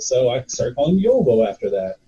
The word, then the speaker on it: Jovo: Nobody can pronounce it. So I started calling him Yovo after that.